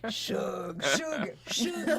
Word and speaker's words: Suge: Suge Knight. Short for sugar. Suge Knight, who was injured